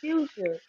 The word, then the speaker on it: Phusia: And then she was like, no, please tell me where you see an R. Do you see an R anywhere? And then I'm like, yeah, it ain't no R here.